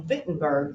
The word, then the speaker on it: Wittenberg: come back from he goes to college in vinton burg Germany you world history students and reclamation students why is fitting burghers pronounced baton vibrating we call it wittenberg wise Wittenberg yes you're absolutely writing nailed his